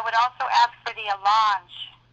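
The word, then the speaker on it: allonge: something and I would also ask for the alange it's spelled a l l o n g e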